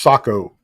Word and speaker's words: Saco: Joanne says it's pronounced Saco. Again, Joanne, thank you so much for being here. Saco. Joanne, are you from Maine or Saco?